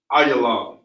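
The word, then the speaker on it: עילם: Biblical name is Elam. Pronunciation is Ayalam in the Hebrew.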